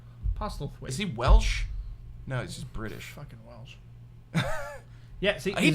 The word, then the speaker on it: Postlethwaite: Pete Postlethwaite. Postlethwaite.